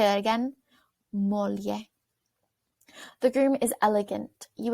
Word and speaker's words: moglie: Moglie. GLs in Italian sound more like an LY, so that's why it might have sounded a little bit different than you expected. Let's say that again. Moglie.